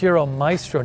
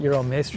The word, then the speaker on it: Euro Maestro: don't need the ad I'm saying it wrong it's Euro maistro not Euro mro yeah you know mro like a musician yeah makes sense it's